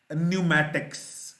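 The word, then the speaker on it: pneumatics: एक और वर्ड है न्यूमैटिक्स, पी साइलेंट होना चाहिए इसका, ये पहले नहीं मैंने पढ़ा, लेकिन जहन में यही आया कि नमूनिया जब हम कहते हैं तो उसका भी पी साइलेंट होता है।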